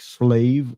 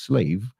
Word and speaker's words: Slav: When you deal with the word Slav, that's mispronounced as slave, then it takes you back to the proper root of the Slavic people and the Slavic countries, right?